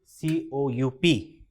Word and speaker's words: coup: Coup is C-O-U-P, but we pronounce it as coup, which is coup.